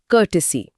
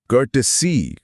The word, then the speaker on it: courtesy: कर्टसी spelling है सी ओ यू आर टी ई एस वाई। कर्टसी कर्टसी।